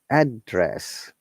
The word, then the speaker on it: address: this word address address if it is known our tone comes from up to down like address notice it address noun if it